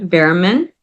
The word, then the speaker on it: Bearman: Under my name, Bearman. Can you spell that just to play safe? Yes, and the last name B as in boy, EARMAN. It's just like Okay. bear and man.